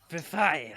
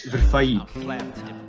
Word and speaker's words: Verfaillie: French, like a Yeah, it's basically like when you can pronounce Desailly, It's like, so you can say like Verfaillie.